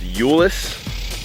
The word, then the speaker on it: Euless: I think I'm in it's pronounced Ulis Ulis Texas I don't